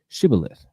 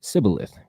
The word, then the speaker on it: Shibboleth: So they said, say Shibboleth, and he said Sibboleth because he just couldn't pronounce it right, and therefore they killed him.